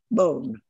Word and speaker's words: Beaulne: And his family name was B-O-N-E, Bone, which is a little bit unusual in English, but it was the English spelling for the pronunciation of his ancestor's French name, Bone.